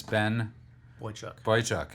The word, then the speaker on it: Boychuk: A managing editor of American Greatness, Ben... Boychuk. I asked Louis. He said I always mispronounce it anyway.